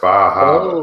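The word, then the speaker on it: Bar Harbor: Now, Meredith, it's pronounced Bahaba.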